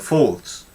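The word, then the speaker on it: faulds: a vital area is called the Falls now it's spelt like this folds now this actually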